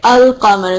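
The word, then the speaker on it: القمر: The sun letter is the ones ash-shams, the ones you skip the lam, and the moon letter is al-qamar, like the ones you say the lam with.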